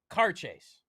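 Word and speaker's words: Càirdeas: Now that middle word there, I am told, is pronounced with a Scottish accent, car chase.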